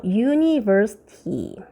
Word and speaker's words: university: 보세요. University. 이거로 시작했다. 그러면 선생님 이것도 N이겠다. 돼요? 안 돼요? 안 돼요. 에, 이, 오, 우랬죠 선생님이. U예요 얘는. 그렇기 때문에 얘는요 university예요. 알겠어요? 잘 기억해놔야 됩니다. 발음이에요.